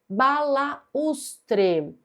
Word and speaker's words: balaústre: Balaústre. Aqui, essa palavra é acentuada pela regra dos hiatos. Nós temos um U tônico formando hiato com a vogal da sílaba anterior.